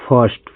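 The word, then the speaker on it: first: तो जैसे देख लीजिए एफ आई आर एस टी इसको पढ़ते हैं फर्स्ट।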